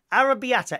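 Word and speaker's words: arrabbiata: careful Tim's connectively arrabiata arrabiata is how you say arrabiata would it desire a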